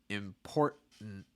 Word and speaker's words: important: breath on the t you're not removing the t but you're not releasing the breath you're tightening your throat and you're shortening the vowel import import then we're going to get that last syllable so this is what's happening is you have this held t before an n sound so for instance in a word like mountain or ka same thing here important and then same thing